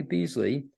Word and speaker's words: Beasley: And do I have the last name, the pronunciation? Beasley.